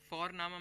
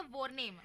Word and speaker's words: Vorname: और हम यहाँ पे फोरनामा प्रोनाउंस करते हैं बट लिखते हैं उसको VORNAME। ओके, तो वो हम इंग्लिश के अनुसार प्रोनाउंस करेंगे तो बनेगा वॉरनेम, बट नो, इट्स फोरनामा।